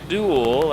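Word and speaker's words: Dewil: Duel Albe it D E W I L pronounces it duel as in D U A L or E L.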